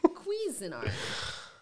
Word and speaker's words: Cuisinart: Cuisinart. Like you'll get queasy from. That's how it sounds.